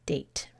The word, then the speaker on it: date: We need that silent E to force the A in date to say A.